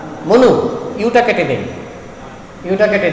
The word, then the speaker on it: Manu: মনু, মনু থেকে ম্যান, MANU কি হয় উচ্চারণটা? মনু।